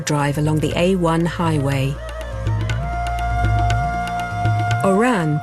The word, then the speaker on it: Oran: Oran, pronounced Houaran, is Algeria's closest point to Europe.